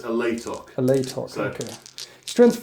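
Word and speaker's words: Alaitoc: I always pronounced it Altioc for years. Then I actually read it and realised it says Alatoc.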